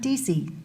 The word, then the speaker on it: DC: My name is DC. rhymes with camera. DC, like AC/DC.